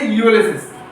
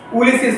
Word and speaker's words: Ulysses: তো সবার আগে দেখো এখানে দেখতে পাচ্ছ উচ্চারণ কি করবে, ইউলিসিস, উলিসিস নয় কিন্তু ইউলিসিস। ঠিক আছে, তো ইউলিসিস হবে।